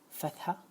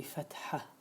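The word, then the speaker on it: فتحة: As we explained in the previous lecture, this hyphen we are using just to differentiate between the th, rather than pronounce that to be fatha, it will be fatha, and h is for ha, as we explained in the previous lecture.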